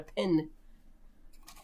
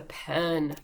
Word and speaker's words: pen: when i talked about lots of people here mispronounce this and call it a pin this is not a pin it's a pen pen pen pen pen